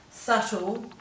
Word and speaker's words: subtle: in the following ones we have a silent b so you'll find it very difficult to pronounce that b um that's why it's become silent over time so we've got debt doubt subtle succumb and then yacht is